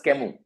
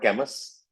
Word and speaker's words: Camus: up we we write spell his name as C A M U S but we pronounce as Kamu. It took me quite some time to discover it was Kamu and not Cas. Okay.